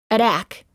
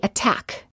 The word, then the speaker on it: attack: Note, the T does not change to a fast D sound if the T is within a stressed syllable. We don't say attack, we say attack.